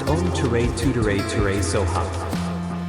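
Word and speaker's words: Om Tare Tuttare Ture Soha: Tara is believed to respond quickly to those who recite her mantra, Om Ter Tutter Tor Sva, pronounced Om Ture Tutere Ture Soha.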